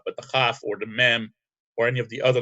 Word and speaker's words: Mem: Now the next letter is Mem, M-E-M, and it makes the sound M, as in Moses.